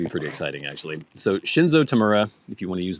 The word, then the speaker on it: Shinzo Tamura: It is Shinzo Tamura. Okay, these are going to be pretty exciting, actually. So Shinzo Tamura, if you want to use the American pronunciation,